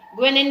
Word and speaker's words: ग्वानिन: ठीक है, ऐसी स्पेलिंग होती है इसके, ग्वे फिर निन। ठीक है, ग्वानिन कहते हैं हम इसको।